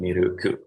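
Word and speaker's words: ミルク: I don't know if I should say it milk or if I should say it miruku, which is how they pronounce it using the katakana alphabet.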